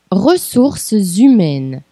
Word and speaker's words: ressources humaines: Então, a gente vai ligar a última consoante da primeira palavra com a vogal da segunda palavra, da palavra seguinte. Ressources humaines. Ressources humaines.